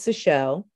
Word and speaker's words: Seychelles: So one is Seychelles and the other is Seychelloy. So my name ends in E-S, like after the islands, but the Seychelloy ends in O-I-S.